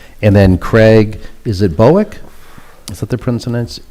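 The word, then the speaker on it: Bouck: And then Craig, is it Bowick? Is that the correct pronunciation? B-O-U-C-K? Craig Bauk. Was it? Craig Bauk. Bauk.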